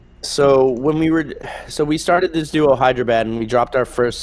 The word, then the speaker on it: HYDRAB8: And we formed a duo called Hyderabad. It's spelled HYDRAB8.